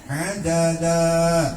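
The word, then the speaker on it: عددا: Mad ya hampir akhir semua surah Alkahfi ini mad iiwad bu adada dua harakat mad iwan adalah tanwin fathah yang ada di akhir ayat ya adadan tadinya karena kita berhenti jadi adada mad apa madwahumama ayulizbaha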